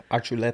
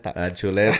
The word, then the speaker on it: Archuleta: go with me how would you say it arula arula I like that okay so welcome to the